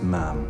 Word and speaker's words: ma'am: your majesty after that it's ma'am rhymes with ham until you leave then